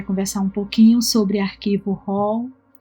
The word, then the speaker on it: RAW: Na verdade, a pronúncia é RAW, do inglês.